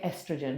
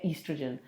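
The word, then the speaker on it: estrogen: ईस्ट्रोजन की ज़रूरत है, जिसके अमेरिका जिसमें इसको कहते हैं, प्रोनाउंस करते हैं एस्ट्रोजन, हम करते हैं ईस्ट्रोजन।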